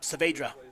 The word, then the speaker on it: Saavedra: Yep, Saavedra.